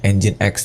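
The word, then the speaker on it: nginx: Ini bacanya Engine X, Teman-teman.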